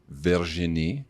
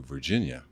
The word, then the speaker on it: Virginie: Because Americans and English-speaking Canadians will probably call you Virginia.